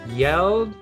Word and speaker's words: yelled: yelled out loud and this time it's a d sound at the back not the t sound at the back yes so this one's a little bit different um it it rolls into the d sound there so i yelled out